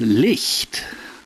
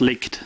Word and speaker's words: Licht: pronounce this uh like like list is german hi holy and so you spell that l-i-c-h-t so it's leaked no problem everybody says licked anyway it's almost like elite